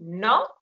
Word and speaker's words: notte: When you sing, but when you speak, you just do notte, and the tongue is already there on the palate, waiting to pronounce the T. Notte, staying there, waiting. Notte. You keep your tongue put on the palate, keep silent, and wait for a second.